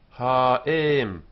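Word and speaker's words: הָאֵם: Ha'im, ha'im. The mother. Ha'im. Notice before Aleph, we use the long vowel here.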